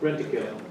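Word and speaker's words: Rentokil: Rent-a-kill.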